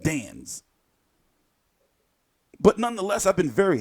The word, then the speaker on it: DAZN: you know the zone it's spelled a the AZN dance but nonetheless I've been